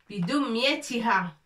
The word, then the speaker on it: بدميتها: Ça, c'est 2 points pour prononcer le T. Avec كسرة, ça fait T. بدميتها.